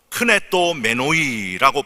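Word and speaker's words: κνηθόμενοι: 사람이 바른 교훈을 받지 아니하며 귀가 가려워서 자기의 사욕을 따를 스승을 많이 두고, 여기서 이 귀가 가려워서라는 이 표현은 헬라어로 크네토 메노이라고 발음을 하는데, 간지러운 곳을 긁어 만족감을 얻는 것을 의미하는 단어가 바로 이 크네토 메노이라고 하는 단어입니다.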